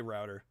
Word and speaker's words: router: Mentioned some people say rooter, some say router.